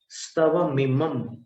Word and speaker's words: स्तवमिमं: स्तवमिमं वहां पर म जैसा उच्चारण करेंगे।